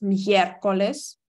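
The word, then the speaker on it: miércoles: коліс - це середа звертаю вашу увагу на наголос меркулес ільхаєвес це четвер Боже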